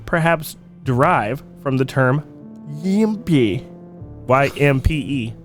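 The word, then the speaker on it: ympe: Frequently described in folklore and superstition, the word may perhaps derive from the term Yimpe. Y-M-P-E. Yimpe. And that's exactly how you it's said.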